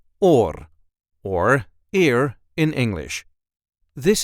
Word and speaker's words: oor: and this time we will see how to pronounce in a regular Dutch accent or or ear in English this is how we